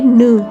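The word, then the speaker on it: know: अब ये है, इसमें देखो K साइलेंट है तो K को नहीं पढ़ेंगे, NOW, इसको नाउ नहीं पढ़ेंगे, इसे नो पढ़ेंगे, नो।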